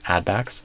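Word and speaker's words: add-backs: I would stress add instead of backs. Add backs.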